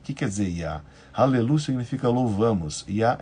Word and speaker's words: Yah: Yah, YA, muito bem.